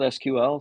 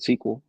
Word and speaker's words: SQL: uh for the L will spell it out SQL some people will pronounce it SQL you know I got